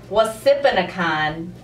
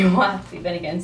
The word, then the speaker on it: Wapsipinicon: I used to pronounce it Wasipinicon, and it's actually Wapsipinicon.